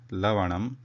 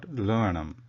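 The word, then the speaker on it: लवणम्: With la, the Vyanjanam la, lavanam, not luvanam, luvanam.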